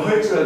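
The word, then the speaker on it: hertz: 만약에 프리퀀시가 50 헤르츠, 뭐 한국에서는 헤르츠라 그러고 영어 발음은 헐츠라 그러고 여기서 뭐라고 하는지 모르겠어요.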